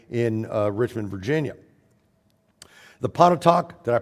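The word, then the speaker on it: Pontotoc: Museum today in in uh Richmond Virginia the panot talk did I pronounce that right Pon talk okay good the pon talk a minute men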